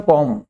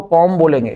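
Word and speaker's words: comb: इसको बोलते हैं कॉम। इसमें बी साइलेंट है। इसको कॉम बोलेंगे। बी साइलेंट है। कॉम्ब नहीं कॉम को म साइलेंट रहता है इसमें।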